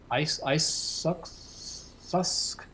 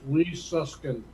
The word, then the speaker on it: Lee Suskin: Not sure how to pronounce this. Susk. David, it's Lee Suskin.